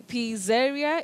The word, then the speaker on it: pizzeria: p i z z e r i a p zeria is that correct you say pizzeria pizzeria pizzeria